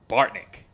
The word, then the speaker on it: Bartnick: Emphasis on the first syllable on that last name. I love it. Bartnick.